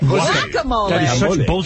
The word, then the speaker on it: guacamole: is silent guacamole guacamole wacamole wacamole the g is silent yesac what was the last